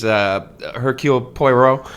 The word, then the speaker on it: Hercule Poirot: But I decided recently I was going to reread Agatha Christie's Hercule Poirot. which I did pronounce correctly.